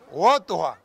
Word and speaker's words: Utuja: Utuja. Destaco que el lenguaje piaroa, el idioma piaroa es muy gutural y nasal. Por eso se nos cuesta decir Utuja.